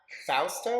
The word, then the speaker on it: Fausto: We have Fausto.